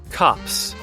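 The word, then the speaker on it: copse: of trees oh and it might not be pronounced copes let's see what google says cops okay so it's cops i guess so a cops of trees that's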